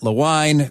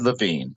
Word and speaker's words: Lewin: Well, actually, if you were in Germany, you might have said Levine.